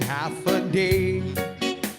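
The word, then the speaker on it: Hafa Adai: Just pronounce it as in Hoffa Day. Sing it with the beat and say it every day like Hoffa, Hoffa, Hoffa, Hoffa Day.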